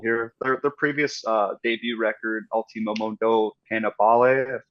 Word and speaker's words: Ultimo Mondo Cannibale: Their previous debut record, Ultimo Mondo Cannibale, I guess is probably how you say it.